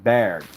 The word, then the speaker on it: Bargue: I think I'm pretty sure he's French, so I'm pretty sure that's pronounced Bargue.